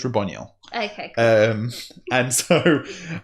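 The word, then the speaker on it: Raboniel: is ronel yeah and I don't know how to say it it could be Rabon Neil I don't like Rabon Neil so it's ronel okay Co um and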